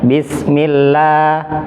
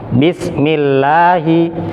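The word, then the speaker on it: بسم الله: Jadi kalau lafaz Allah sebelumnya kasroh maka dibaca tarqiq atau tipis. Tipis itu sederhananya suaranya terdengar suara A.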